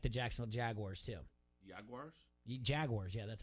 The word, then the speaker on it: Jaguars: Jaguars? Jaguars, yeah, that's how you pronounce it.